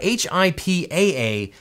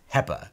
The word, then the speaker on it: HIPAA: Attention everyone, it's HIPAA, H-I-P-A-A, not H-I-P-P-A. All you have to do is look at the words that go into the act, and it's definitely pronounced HIPAA, not pronounced HEPA.